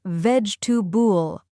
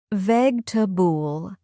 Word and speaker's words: vegetable: The correct pronunciation is veg tub bool. Notice how the middle part is reduced to a softer sound.